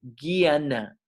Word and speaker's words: jñana: es esa jñana eso se pronuncia como si fuera una G guiana como si fuera G y a guiana así